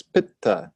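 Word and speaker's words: pitta: fire and water is but and that has a double consonant but so you emphasize the first syllable and the second syllable is light first syllable guru or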